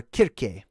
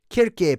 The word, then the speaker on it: Kirke: So Circe, okay, or Kirke. Kirke, pronounced Kirk or Kirke. So Kirk, just like Captain Kirk, right?